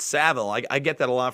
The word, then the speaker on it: Savile: what jim did old jimmy seville it's savile i get that a